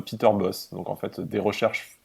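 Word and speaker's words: Peter Bosz: En néerlandais, on dit bien Peter Boss.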